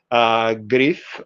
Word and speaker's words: Griff: It's not pronounced as double F. It's simply pronounced, it's simple, single F, but this is Griff. Griff.